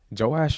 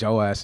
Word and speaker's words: Joash: Gotta make sure you pronounce the H.